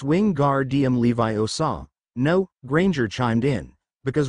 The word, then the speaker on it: Wingardium Leviosa: by a shrill voice you're saying it wrong it's Wing guard DM Levi OA no Granger chimed in